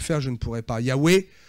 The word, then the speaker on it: Yahweh: Yahweh, c'est la manière dont nous avons de le prononcer. Mais les lettres hébraïques sont imprononçables.